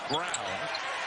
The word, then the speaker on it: Braun: Brown do for you looks like Braun pronounced Brown and the Freshman getting